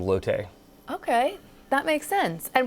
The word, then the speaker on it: Lotte: There was a female character named Lotte that, I guess since we're a Korean company or a Korean brand, that through the pronunciation became Lotte.